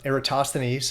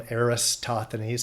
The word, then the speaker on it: Eratosthenes: so I consider uh eratosthenes some people call them aristotthanas I call them eratosthenes and I hear I hear that pronounced differently in other ways too but most commonly eratosthenes he presupposed parallel rays